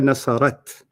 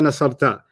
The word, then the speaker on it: نصرت: You're pronouncing it wrong. Here nasarat. Oh, هي نصرت. Okay, let's start that again. Okay. And let's see if you don't say here nasarta. Here nasarat is what I want to hear.